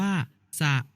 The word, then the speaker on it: สระ: รูป สระ 32 ตัว สระ อะ อ่าน ว่า สะ หมาย ถึง แหล่ง น้ำ